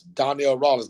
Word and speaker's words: Donnell Rawlings: these platforms, people know you, when they can pronounce your name. That's Donnell Rawlings, not Donnell Jones, not Donnell Rawlings, not Ashley Larry, but Donnell Not where Rawlings.